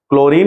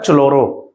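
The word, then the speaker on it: chloro: हेलो alkane, hello, क्लोरो, bromo, iodo, क्लोरो, bromo, iodo, क्लोरीन यूज होगा तो हम बोलेंगे क्लोरो, CH होता है चलोरो प्रोनाउंसिएशन जब करोगे तो, बट बोलते क्या है, क्लोरो।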